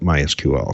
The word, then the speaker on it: MySQL: Well, I've heard directly from Monty himself. He calls it MySQL, so that's the authoritative version.